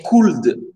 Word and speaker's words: could: Et tu as dit could. Ça, on a dit attention, le L, il ne se prononce pas.